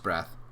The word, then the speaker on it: Breath: that principal Jones's secretary mrs. breath rhymes with death would tackle me with